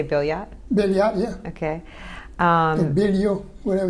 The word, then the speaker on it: Billiot: You say Billiot? Billiot, yeah. Okay. Bilio, whatever you want. Okay. There's a lot of people pronounce it Bio, but it's Billiot. Yeah.